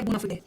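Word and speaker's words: bona fide: कई बार इसका प्रोनाउंसिएशन लोग बोनाफाइड बोनाफाइड कर देते हैं, बट ये बोनाफिडे।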